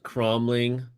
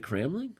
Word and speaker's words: Cramling: People don't like Cromling. I think it is pronounced Cromling. Is it Cramling? Is it Cromling? Cramling. I think It's Cramling. Yeah. With the right emphasis on the right syllable? Anna Cramling? I think so.